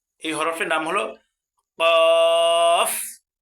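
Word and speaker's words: قاف: সঠিক উচ্চারণ কি? ফা ফা ফা ফা এর পরবর্তী শব্দ দেখেন এই দেখেন এই হরফটার নাম কি এই হরফট নাম হলো কফ কফ দুই নক্তাওয়ালা কফ যেটাকে আমরা বড় কফ বলে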